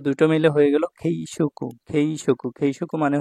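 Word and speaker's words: 軽食: এটা তাবে মাছের কাঞ্জি তাবে মাছের হচ্ছে চাইনিজ উচ্চারণ হচ্ছে শুকু ঠিক আছে তো দুটো মিলে হয়ে গেল খেই শুকু খেই শুকু খেই শুকু মানে হচ্ছে নাস্তা যেটা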